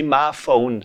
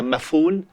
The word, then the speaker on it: Maphoon: we pronounce smartphone i i prefer to say my phone and not people like to say mafun but that's not how i think it should be pronounced my phone it doesn't rhyme with lagoon and yeah so that's